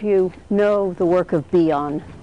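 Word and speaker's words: Bion: how many of you know the work of beon how many of you are familiar with beon okay uh can you spell that b IO n uh so uh Wilford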